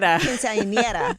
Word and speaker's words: quinceañera: Quinceañera. I'm trying to pronounce this right. Quinceañera. Yeah.